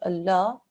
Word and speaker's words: Allah: on to this example here there is the word Allah just before it there is alarm with a what is this stroke Gaara well done okay because that's a cursor this la mouche added here within the word Allah becomes thin sound okay so we read